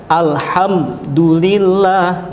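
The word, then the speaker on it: الحمد لله: surat al-fatihah alhamdulillahirobbilalamin HAM jadi disini beda bacanya dengan yang lain dengan yang tadi kalau tadi dengungkan atau disamarkan yang ini dijelaskan Alhamdulillah enggak boleh Alhamdulillah enggak boleh seperti itu kemudian contoh yang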